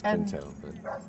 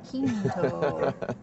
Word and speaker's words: Quinto: It's Quinto. My researcher told me that the correct pronunciation was Zachary Quinto. It's that too.